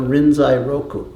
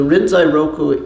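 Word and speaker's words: Rinzai Roku: a copy of the renai Roku so the rinai Roku is the uh Japanese pronunciation of uh the Chinese book uh Lin L and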